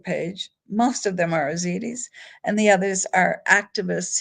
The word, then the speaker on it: Ezidi: Yazidi is spelled with a Y in front of it, even though the real pronunciation is Ezidi, Ezidi, Ezidi. But international journalists have plugged a Y in the front of it and they pronounce it Yazidi. That's not how it's really pronounced, but because I want